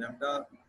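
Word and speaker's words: lambda: ये साइंस हम लैम्डा इसको जो है प्रोनाउंस करते हैं।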